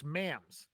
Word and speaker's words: Mams: Okay, and it's Mams.